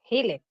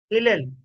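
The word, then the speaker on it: Hillel: Hil, ¿cómo se dice propia ahí? Hilel.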